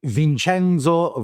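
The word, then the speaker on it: Vincenzo: the new world uh so vinchenzo Valeri as they would pronounce in Italy lovely uh affectionately Vince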